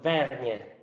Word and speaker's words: Vergne: who's the winemaker at giovanni viberte winery in verge i pronounced that little frazioni correctly burgundy it's a barolo frazione called vernier okay yeah it's just if you're in barolo